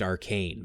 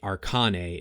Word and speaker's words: Arcane: hive mind and yes i know it's pronounced arcane but saying it arkane is my way of keeping things clear for people who struggle